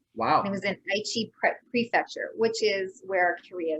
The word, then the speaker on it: Aichi: pronunciation is wrong, but the Eiki Expo World Exposition in 2005. Is that the right pronunciation, or? It's called Aichi, but pretty close.